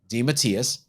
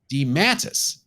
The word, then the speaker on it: DeMatteis: I always pronounced the name DeMatteis. So do I, obviously. However, my late wife worked in a doctor's office, and one of the neurologists had that same last name, and he pronounced it DeMattis. I can't say for sure how the writer pronounced his own name, but DeMattis is one way.